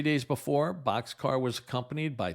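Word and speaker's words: Bockscar: That B-29 had the nickname of Boxcar. That's spelled Bockcscar. It was a play on words, like a railroad boxcar, but spelled differently because it was first commanded by Captain Frederick Bach.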